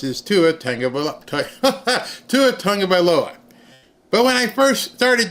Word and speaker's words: Tagovailoa: And Miami Dolphins ended up signing a quarterback whose name I can now pronounce is Tua Tagovailoa.